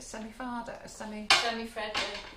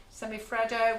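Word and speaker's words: semifreddo: Semi-fado? Semi-freddo.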